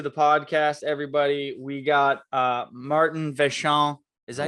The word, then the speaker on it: Martyn Vachon: We got Martyn Vachon. Is that how you say it? Is that right? I mean, yeah, Martyn Vachon is in French, but That was I mean, beautiful. Martyn Vachon.